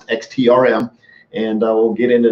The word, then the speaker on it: XTRM: what that means and it is not pronounced extremist i should pronounce xt RM and i will get